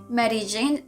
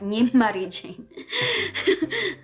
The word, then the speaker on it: Mery Jane: failed on Vasya Does Mery Jane often makes mistakes? first, my name is (pronounced as) "MEry Jane", not "MAry Jane" so let's continue ..